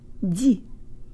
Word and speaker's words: ди: 2, put more air through on the de than you would in English. And 3, de-emphasize the E. Here we go. Jo tang lips. Di.